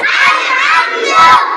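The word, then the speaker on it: الحمد: আলহামদু আলহামদু আবার কও আলহামদু আলহামদু আলহামদু আরো জোরে আলহামদু আরেকবার আলহামদু সবাই কও আলহামদু আলহামদুর যে হা গলার মাঝখান থেকে চিন্তা কইবা আলহামদুর যে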